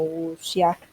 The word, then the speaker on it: wuxia: una película de wuxia, se copia así, pero en mandarín creo que se pronuncia como wuxia.